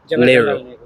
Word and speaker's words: Nehru: Nehru.